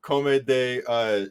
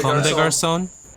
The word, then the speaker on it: Comme des Garçons: And another thing that I found very surprising is the opening to track number 4, Come de God, I don't know how to Come de pronounce it. Comme des Garçons.